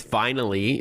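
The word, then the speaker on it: Vinyly: It's vinally. If those who are not driving want to jot this down, it's v i n y l y. So, like vinyl with an extra L Y at the end.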